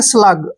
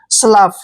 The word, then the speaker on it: slough: जहां भी लास्ट में OUGH आएगा, लास्ट में अगर OUGH आ रहा है तो उसका उच्चारण मोस्टली हम फ करेंगे। क्या करेंगे? फ। स्लफ, क्या पढ़ेंगे?